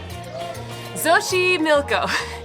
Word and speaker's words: Xochimilco: Xochimilco, spelled like this.